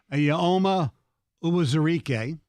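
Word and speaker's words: Eyioma Uwazurike: I'm going to try to pronounce it correctly. Yeah, you do, because I don't want to. Ayoma Uwazurike.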